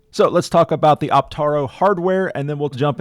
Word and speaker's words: Optaro: It is Optaro with an A, not Optoro with an O.